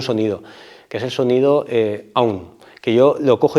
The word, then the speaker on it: AUM: lo cojo y digo, como si se pronunciara A-U-M. A es hacia arriba, U es hacia abajo, y la M es la que le da la vibración adecuada, que ahora después lo